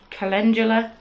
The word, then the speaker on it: calendula: Lea's rosette pieces ginger hibiscus Rosen sunflower Callan calendula that's how you pronounce it and I was manthis petal I've